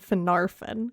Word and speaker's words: Finarfin: the emphasis goes on the second to last syllables so it's engulfing not single thing it's fingolfin and phenartha then golfin and finarfin golf golf and narf and mitch possibly worth